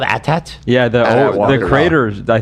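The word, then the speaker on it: AT-AT: I think it's supposed to be pronounced atat. Yeah. Well, you can go. It's called Atat.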